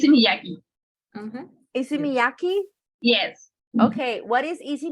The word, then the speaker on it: Issey Miyake: How do It's you a- how do we pronounce it? Easy. I listen. It's a Miyaki. Issey Miyake.